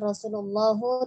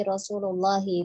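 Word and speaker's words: رسول الله: Qala Rasulullahi ya. Tadi saya mendengarnya qala Rasulullahu. Bukan Rasulullahu tapi Rasulullahi, di situ mudhof ilaih ya, jadi barisnya kasroh Allahnya.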